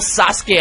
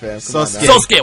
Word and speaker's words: Sosuke: Let me just say before you continue, the real Sasuke Aizen commented on Toasty's video. The real Sosuke Aizen. Sosuke. Wow, I mispronounced it.